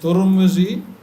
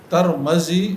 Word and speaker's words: ترمذی: میم پر کسرہ ہے۔ تو ترمزی اور ترمزی اور ترمزی اور ترمزی یہ سب تلفظات درست ہیں۔ یہ ترمز کا جو